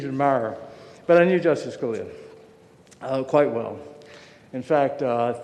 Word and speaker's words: Scalia: Is it Scalia or what?" No, he said, "It's Scalia, it's Scalia."